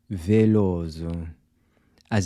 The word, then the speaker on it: Veloso: So the “t-i” is also pronounced like the “c-h” in “chip”. famoso…nervoso…curioso…gostoso. How would you say this? Veloso…as in the famous Brazilian singer Caetano Veloso.